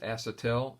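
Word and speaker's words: acetal: methyl ethylene which usually people just call it a Satele spelled AC et al pronounced asset l and it's a trade name is Delrin you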